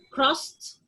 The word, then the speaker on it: crossed: Past, past, crossed, fixed. Past, crossed, fixed. The ed is like t.